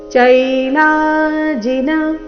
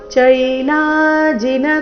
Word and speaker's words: ಚೈಲಾಜಿನ: ಇದೆ ಅದಕ್ಕಾಗಿ ನಾತಿನಿ ಚೈ ಚೈಲಾಜಿನ ಚೈಲಾ ಲಾ ದೀರ್ಘ ಚೈ ದೀರ್ಘ ಲಾ ದೀರ್ಘ ಚೈಲಾಜಿನ ಕುಶೋತ್ತರಂ ಕುಶೋತ್ತರಂ ತ ಓಕೆ